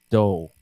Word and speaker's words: dough: E essa palavra se pronuncia dough.